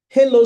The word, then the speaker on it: Helo: The name of the application is Hilo Smart. Hilo is spelled Helo.